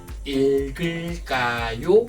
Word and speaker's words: 읽을까요: When 2 prop consonants at the bottom before 이응, the last prop consonant moves to the next syllable because 이응 is silent, zero sound. So you should read as 읽을까요?